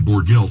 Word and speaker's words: Borgelt: it doesn't pronounce it right it's it's he pronounces the board guilt and it's spelled be large et and now